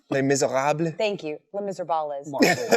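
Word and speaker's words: Les Misérables: have a fighting game a Les Miserables is what I call it but that's not how you say it Les Miserables Thank You Les Miserables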